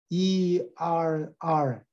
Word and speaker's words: err: ERR 잘못한다 할 때도 air 발음이 똑같아요.